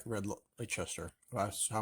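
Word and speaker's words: Leicester: i really like red lachester that's well i'm pronouncing it correctly it's not less seister or anything like that but so last night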